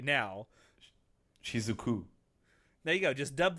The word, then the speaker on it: Shizuku: re-record this entire episode, but her name is Shizuku, not Shizuka.